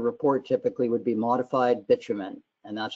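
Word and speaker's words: bitumen: put in your report typically would be modified bitman and that's how it's pronounced bitman hey thank you very much Ian appreci appreciate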